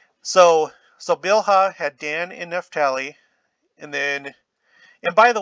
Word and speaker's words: Naphtali: of the scriptures online, the guy pronounces this Naphtali, but I think we might also call it Naphtali because you have Naphtali Bennett, who's currently the prime minister